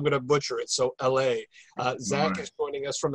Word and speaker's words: Allay: And I always mispronounce the name of the organization you're representing, so say it for me. Yeah, Allay.